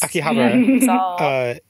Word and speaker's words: Akihabara: go to Tokyo, then Akihabara. Since I made fun of Riley for mispronouncing it, I think we're all just Akihabara.